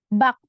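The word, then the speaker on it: 밖: Ini juga bak. Jadi bacanya bak.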